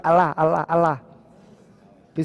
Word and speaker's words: Allah: want to pronounce it, there's this heaviness that enters the what? It enters the word. It is heaviness that enters the word عند النطق به, when you pronounce it. When you're pronouncing it, what's happening? It becomes heavy. فَيَمْتَلِئُ الْفَمُ, the mouth becomes heavy when you're saying it.